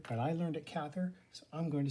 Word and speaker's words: Cather: or willa cather i'm told that it's actually pronounced cather but i learned it cather so i'm going to say cather so willa